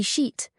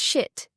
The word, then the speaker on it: sheet: Sheet, pronounced as shit, is a classic error.